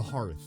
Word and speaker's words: Hearth: named after um a hearth right or Hearth the hot thing the hot thing that goes in oldtime homes that's what he's named after okay he it's pronounced heart got it the circumstances